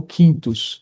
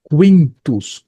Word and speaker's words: Quintus: Como é que eu transformo quintos? Né? No caso, a pronúncia correta é quintus, qua, tá?